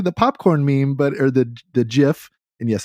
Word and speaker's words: GIF: It's totally the popcorn meme, or the GIF. And yes, it's pronounced GIF.